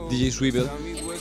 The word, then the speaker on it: DJ Swivel: DJ, ¿cómo se pronuncia? DJ Swivel.